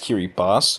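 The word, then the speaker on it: Kiribati: Europe like Paris London Poland banana it's actually pronounced Kiri boss but nobody cares because the island is seeking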